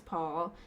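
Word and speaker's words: Pál: last child was born paul it's spelled like pal but it's paul in 1598 so they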